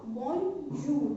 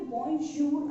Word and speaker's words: bonjour: Okay, यहाँ पे हम इसको क्या प्रोनाउंसिएशन करेंगे इसका, बोंजूर, नॉट, बहुत सारे लोग इसको देख के बोलेंगे बोंजूर, बट यहाँ पे ज नहीं आएगा।